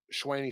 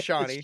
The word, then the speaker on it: Shawnee: That Schwaney Smith might be returning for that, so that Who? might. Who? be all right. Who? Schwaney? How do you say her Shawnee? name? Shawnee? Is it Shawnee? It's Shawnee.